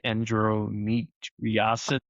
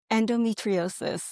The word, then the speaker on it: endometriosis: conditions like PCOS or endro How do you pronounce it? Endrometriosis? Endometriosis.